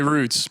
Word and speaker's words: Routes: I say Roots, but that's just my Northeast blood.